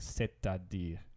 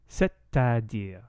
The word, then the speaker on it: c'est-à-dire: So this is a fixed expression that sounds like c'est-à-dire. C'est-à-dire. You say the T.